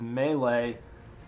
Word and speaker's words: melee: SE a melee section some people pronounce it m but I've always been taught it was melee anyways we have access